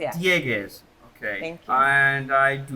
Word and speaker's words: Dieguez: Am I pronouncing your last name correctly? Diegas. Yeah, Diegas.